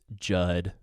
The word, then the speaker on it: Judd: It's just one syllable. Or I guess it might be Judson is the full name, but then people are not going to call you Judson. They're just going to call you Judd. Rhymes with mud and crud and fud.